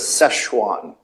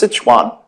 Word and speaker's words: Sichuan: most of you probably know the word as sesan people say sesan chicken it's actually pronounced Sichuan so that's um that's the province there it's